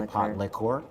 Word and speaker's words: pot liquor: a British term yeah they would say part liqueur oh but people spell it pot liquor like Li ke ke er so I'm back